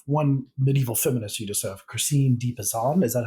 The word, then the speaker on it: Christine de Pizan: so you have one medieval feminist you deserve Christine deep Assam is that how you say it Christine de Pizan yes what what who was she and what